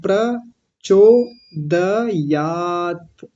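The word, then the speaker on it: प्रचोदयात्: पर लगा देते हैं पर नहीं प्र ये क्या होता है प आधा और रेफ पूरा र ऐसे होता है पकार हलंत और रेफ प्र बोलना है प्र चो द यात दयात दयात दयात दयात ऐसा रखना है प्रचोदयात प्रचोदयात ठीक है हो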